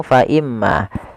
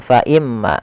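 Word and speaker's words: فإما: alirkan nafas kita faimma Im di sini ada huruf mim yang berharakat tasydid kita hukumi dengan bacaan gunah cara membacanya adalah menahan suara gunahnya faimma tidak langsung faimma kesalahan yang sering terjadi yaitu dia apa namanya tidak menahan gunahnya langsung faimma nah ini salah yang harusnya adalah faimma ditahan dulu kemudian pada lafal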